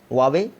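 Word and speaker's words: Huawei: हालांकि हुआई कहते हैं कई लोग, लेकिन सही प्रोनाउंसिएशन वावे है, तो आप याद रखिएगा।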